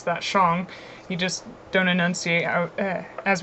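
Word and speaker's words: Shang: go little intro so the Shong Dynasty I'll pronounce that Shong you just don't enunciate as we do in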